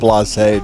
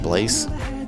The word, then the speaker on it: blasé: It's Blasé Day. It's French. Is that how you say it? I get, yes. I just said Blaze.